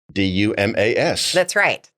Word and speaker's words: Dumas: Dumas. That's right. So the S is silent.